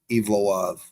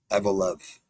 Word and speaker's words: Evloev: Masa evlo evloev evlo I thought I thought they pronounce it evov but it's uh evev that's right 17 and0 he was